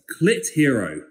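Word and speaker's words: Clitheroe: It's C-L-I-T-H-E-R-O-E.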